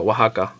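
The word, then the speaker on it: Oaxaca: yeah it's actually a a state in Mexico Waka oh that cheese is from there right Waka cheese okay yeah and that's the that's the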